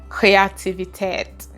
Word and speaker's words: Kreativität: And my last word for today is creativity, and you can guess how it is pronounced, Kreativität.